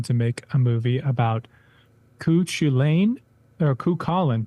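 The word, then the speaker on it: Cú Chulainn: Now we need someone to make a movie about Cuchulainn, or Cuchulainn, pronounced as if Colin is super cool, LOL.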